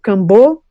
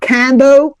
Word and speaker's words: kambo: And then there is also the presence of kambo please everybody not cano kambo like the second emphasis on the second syllable kambo is a poison of the frog.